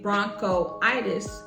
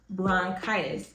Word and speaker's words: bronchitis: you get bronchitis and instead of us saying Bronco itis we drop the O and it becomes bronchitis so dropping the O eases the pronounciation of saying that word let's do another one